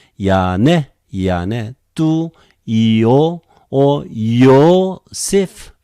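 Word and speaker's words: Ἰανναί: Ya ne, even though there are two consonants, we just simply pronounce one. Ya ne. Okay, R-E becomes E. It is another diphthong with accent. Ya ne.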